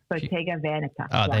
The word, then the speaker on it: Bottega Veneta: It's Bottega Veneta. Is that right? Yeah. Bottega Veneta. There we go. Thank you. There you go, audience. That's how you pronounce it properly.